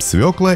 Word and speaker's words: свёкла: Ударение в словах всегда падает на букву «ё», поэтому пишем «свекла» и говорим с ударением на первый слог.